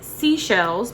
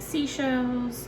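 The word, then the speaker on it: Seychelles: this is the shade i want to say it's seashells but it's spelled s-e-y-c-h-e-l-l-e-c shells so i'm going to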